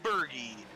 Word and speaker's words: Berge: Number 13, Aaron Berge, an NLR RRO veteran right there. And I know it's weird to say like Berge, but that's how it's pronounced.